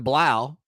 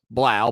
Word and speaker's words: Blau: with our buddy john blau from the charleston post and courier follow him on twitter at john j-o-n underscore blau b-l-a-u rhymes with wow not spelled like that